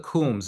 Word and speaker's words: Coombs: What about the Coombs? Am I pronouncing that correctly? Yes, you are pronouncing it correctly, and they're another example where I found different variations of that last name.